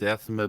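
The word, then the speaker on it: athame: or atha athma blades as far as I'm aware it's always been been pronounced ath asme okay so it's Asma blades and what else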